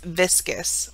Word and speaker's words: viscus: The combining form viscero, derived from plural form for organs, viscera, the singular form is viscus, which rhymes with discus.